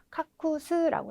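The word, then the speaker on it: 隠す: 카쿠스라고 읽어주시면 되겠죠.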